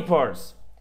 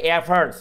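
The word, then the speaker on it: efforts: বলা হয় জ্ঞাপন করেছি বা জানিয়েছি ফর অল ইফর্টস সকল ফর অল ইফর্টস সরি এখানে উচ্চারণ হচ্ছে এফার্টস উচ্চারণটা কি হবে এফার্টস ফর অল এফারস সকল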